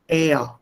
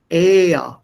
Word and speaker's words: air: if none that is normally not pronounced distinctly but it becomes part of the vowel before it air air not error similarly we